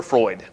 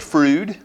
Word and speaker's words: Freud: weekly entitled on Professor Freud here's the poem the ignorant pronounce it fruit to coveal or applaud the well-informed pronounce it Freud but I pronounce it fraud when defending the idea